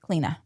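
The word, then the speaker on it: Clíodhna: So if she's Irish, then her name should be pronounced as, I think, Cleena.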